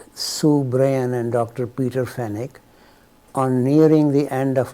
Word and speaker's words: Fenwick: the reference here Peter fenic a British I used to pronounce this as Fenwick but apparently in England they pronounce as fenic so I was periodically